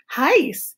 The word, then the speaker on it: Hice: toward him toward her hice he four was his habit always to address his wife thus to rhyme with mice hi smile of I